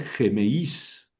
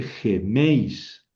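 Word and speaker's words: ἡμεῖς: Pero aquí no voy a leer gemeís. No, no. El acento se pinta sobre la vocal débil, pero se pronuncia sobre la vocal fuerte. O sea, aquí dice dice geméis, geméis.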